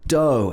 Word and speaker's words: dough: for a run so the next pronunciation of this word is dough and this is the sticky mess of flour and water and egg and butter and all of the ingredients in the bread this is called dough you make bread by